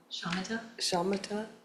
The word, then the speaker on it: Shamata: Shamata. Could you explain a little Shamata bit? is spelled several different ways in English. SHAMATA, And you find it in every Buddhist school, and it means quietude or quiescence.